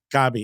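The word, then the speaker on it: Kobbie: Pronounced Kobe.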